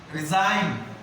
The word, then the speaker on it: resign: Resign. G silent.